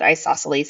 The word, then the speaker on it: isosceles: Now, this also might always my caveat, I'm not positive that that isosceles is spelled correctly there, but you do pronounce it isosceles and it does mean that two of the sides are the same.